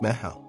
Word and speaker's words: meitheal: It's called Mytheal, pronounced Ma-how.